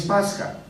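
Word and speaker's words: πάσχα: así todo pasa aunque latinizado se escriba la pronunciación es pasca y ya casterizado se escribe Pascua en esta fiesta se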